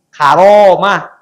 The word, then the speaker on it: karamah: dari kata karamah ini dalam bahasa Sunda dalam bahasa Jawa terbentuk keramat padahal Betulnya Karomah Tapi bacanya k jadi